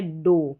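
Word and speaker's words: dough: नहीं सोल यह है डो क्या है डो यहां पर डो है यानी ओ यू को ओ पढ़ा जी एच यहां पर पढ़ा नहीं जा रहा है अब यह है दो क्या है?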